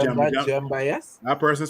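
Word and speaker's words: Djemba: Jemba, yes. That person spelled Gemma. Gemma name wrong.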